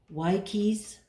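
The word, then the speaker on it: Wyche's: and sweet flavor now Dr white cheese or I've had people pronounce it y keys wash um white cheese yeah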